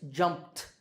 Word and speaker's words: jumped: In this word, it's jumped, jumped, t, or cared, cared, d.